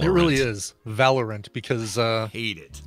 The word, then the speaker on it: Valorant: Valorant. It really is. Valorant, because hate it. Is it spelled like Valor Ant? Yeah, Valor Ant, like the bravest ant in the land, you know?